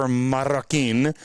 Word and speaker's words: Marroquin: No, so I pronounced her name right. Her name is Jennifer Marroquin.